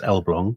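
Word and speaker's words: Elbląg: with rural canals yes so this is the elblong canal um it's spelled l-blag but it's pronounced elblong so my uh polish contacts tell me um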